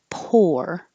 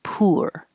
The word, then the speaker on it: poor: um not enough money so it can be o r poor or it can be you are poor either way is fine whichever one you